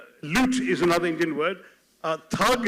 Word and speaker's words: thug: Thug, as they pronounce it, which is tug, of course, in Hindi, came from the actual thugs in our country.